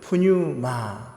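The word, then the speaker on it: πνεῦμα: 히브리어로 루아흐, 그죠? 목에서 나오는 바람 소리와 같은 발음, 헬라어로는 푸뉴마, 푸할 때 이렇게 발음이 목에서 움직이는 공기라고 볼 수 있습니다.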